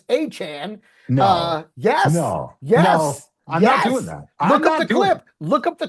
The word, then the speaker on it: Etienne: Etienne is not pronounced ETN, it's Achane.